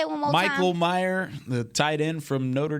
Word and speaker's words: Mayer: It's Mayer.